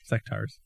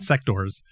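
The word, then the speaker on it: Sectaurs: Oh, AUR, like centaur. Yeah. Okay. Sectars, not sectors.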